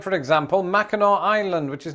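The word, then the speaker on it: Mackinac Island: also worthy of your time like for example Mao Island which is not pronounced maak island or instead of Orlando Florida check out St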